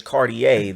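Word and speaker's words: Cartier: know what you buying it's not cardier okay it's cardier the r is silent yall if you going to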